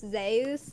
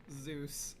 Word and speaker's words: Zeus: uh that I found out that Zeus is actually pronounced Zus in current Greek.